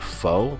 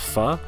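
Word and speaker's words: phở: spelt p h o a lot of people pronounce it foe but it is actually pronounced pha so yes for those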